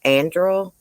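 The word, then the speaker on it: Anderl: Judge Esther Salas' son, David, I don't know if I can say, I looked up how to pronounce this. It sounds like it's pronounced Andrew, was killed on Sunday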